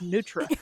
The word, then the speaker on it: nutria: an eye in it so I want to call it a nutria rat but down there they're like no the eye is silent its nutria you can't make you